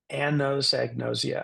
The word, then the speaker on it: anosognosia: a doctor about it this is how you can pronounce it Anns egg nosia I always think of a woman named an who knows an egg and she's very nosy an knows egn noia I I would invite